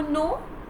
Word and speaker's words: know: No as in N-O, no. Okay, and another one is K-N-O-W, no.